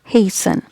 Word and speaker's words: hasten: This is hasten, not hasten. Letter T is silent here. So it is pronounced like hasten.